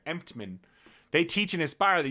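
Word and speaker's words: Emtman: Steve Emptman. Emptman. I'm trying not to say an N in there. Emptman.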